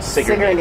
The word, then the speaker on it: Sigourney: There's it's spelled Sigourney, but they pronounce it Sigourney.